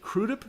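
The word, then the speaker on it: Crudup: was arthur big boy i pronounce it crudip because that's how bobby robinson the great uh black producer in harlem used to pronounce it he goes yeah arthur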